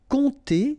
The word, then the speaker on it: compter: Compter sur, remember this P is not pronounced, and then O and M together will give you this nasal on.